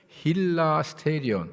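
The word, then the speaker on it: ἱλαστήριον: 힐라스테리온 힐라스테리온 좀 발음이 어렵나요?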